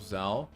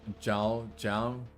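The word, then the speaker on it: Zhou: alfa romeo of of zao or as as they call him zhao like i just know his name and i just know the pronunciation is not an english pronunciation that is why i'm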